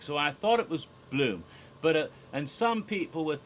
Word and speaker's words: Blum: course Jason Blum because be lu m is a german name that's pronounced bloom and it is a